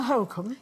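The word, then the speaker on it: Holkham: Holcombe. Exactly. You know when people say Holcombe and miss out the L? No, well, that's wrong.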